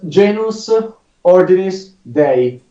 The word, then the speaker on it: Genus Ordinis Dei: It's quite difficult, but it is Genus Ordinis Dei.